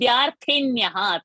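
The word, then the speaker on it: विद्यार्थिन्यः: Vidyarthinyaha, tha, mahaprana.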